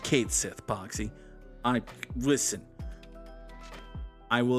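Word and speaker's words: Cait Sith: Ultima weapon which is Cloud's Ultimate Weapon it's pronounced Kate Sith boxy I listen I will accept some things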